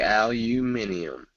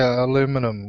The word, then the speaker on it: aluminium: and we don't say aluminium I saw that before yeah it's strange like you guys say aluminum we say aluminium aluminium aluminium yeah but